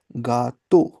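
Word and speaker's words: gâteau: अब हम आगे जाए जैसे इ ए यू और ए यू। हम दिखने में ऐसा लगता है कि हम इसे इयू या औ ऐसा पढ़ें। But know the both are pronounced as ओ in English.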